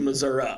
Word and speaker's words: Missouri: Missouri now welcome to Missour so half of the state pronounces it one way the other half pronounces it the other so uh i' I've said Missouri my entire life it's